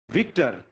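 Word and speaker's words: Victor: विक्टर में आप विक्टर बोलो नॉर्मली चलेगा, लेकिन कभी भी आर को अर जैसा नहीं होने देना, विक्टर नहीं बोलना, नेवर, ठीक है। रशियन वाला इंग्लिश प्रोनाउंसिएशन नहीं, विक्टर, आर पे ज्यादा जोर नहीं दो, ठीक है।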